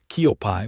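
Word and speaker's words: 커피: On the bottom row, hackio meaning school, Kiopai, which is the Korean pronunciation of the word coffee, hang meaning Korea itself,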